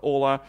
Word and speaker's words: hola: for for this whole hola and also I'm providing this special like a phonetic pronunciation of this word like because it's a Spanish they not pronounce H and it's all amigo and after that I